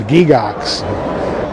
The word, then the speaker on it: Gygax: My full and complete name is Ernest Gary Gygax, pronounced in Switzerland Gigax.